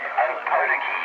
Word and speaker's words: Opotiki: Opotiki is the pronunciation. That's how I say it. The native of New Zealand would say it different to me, Just wait till I might get the contact.